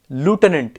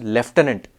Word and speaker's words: lieutenant: n a n t it's pronounced lieutenant in American English but in British English it's pronounced leftenant because apparently that that